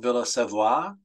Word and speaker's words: Villa Savoye: seavoy uh sa V ye in French is pronounced Villa seoa it's a modernist Villa and uh can be